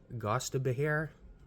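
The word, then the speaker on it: Gostisbehere: Barlay Goodro, Shane Gostaber. That's how you pronounce it.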